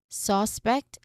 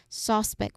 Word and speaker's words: suspect: For suspect, um we shift into its verb form. Okay. Suspect. I suspect. So the stress syllable is pet. No, with a stress on the second syllable.